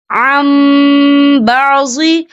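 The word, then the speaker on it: عَنْ بَعْضِ: یہاں دیکھیں یہاں نون ساکن ہے. نون ساکن کے بعد جو ہے با آ رہا ہے. تو یہاں پر انقلاب ہوگا یعنی تبدیلی ہوگی. تو ہم یہاں میم کا تلفظ کریں گے اور ہم یہاں غنہ بھی کریں گے.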